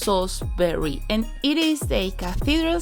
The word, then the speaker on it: Salisbury: Salisbury has spelt "Salisbury" but it is pronounced SAWZ b(e) ree and it is a